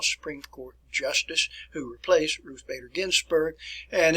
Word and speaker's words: Ruth Bader Ginsburg: by the way then ruth botter ginsburg bruce are actually i think it's pronounced ruth bader ginsburg who just recently passed